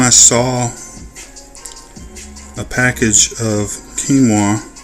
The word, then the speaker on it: quinoa: saw a package of quinoa I tried to sound it out the way that it's spelled came up with quoa so uh those are